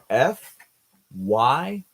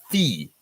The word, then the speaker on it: FYI: We say this as FYI, not fee.